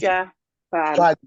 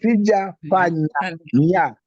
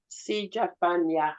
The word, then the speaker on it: sijafanya: It is Sijafan. Sijafan. No, it is sijafanya. Yeah, sijafanya.